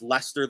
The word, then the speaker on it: Leicester: I always feel weird if I should just like pronounce Lester the way that I normally do and say the r because it it just feels weird if I were to then suddenly switch to British just for one word uh Man City